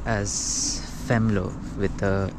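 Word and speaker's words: Venlo: m l o but it is uh uh pronounced as femo with the f um so this is uh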